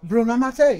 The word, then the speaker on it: Bruno Mattei: Did I pronounce it right? Bruno Mattei, yes.